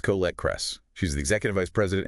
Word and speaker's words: Colette Kress: Colette Kress, pronounced Colette Kress.